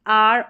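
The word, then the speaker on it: hour: silent रहता है honest आर और ऑनर ये जो स्पेलिंग्स है यहां पर ऑनेस्ट एच जो शुरू में आ रहा है और यह ऑनर आर तो यहां पर जो है एट साइलेंट है बिल्कुल इनको आप ऐसे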